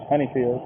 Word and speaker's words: Honeyfield: And how you pronounce that? Honeyfield.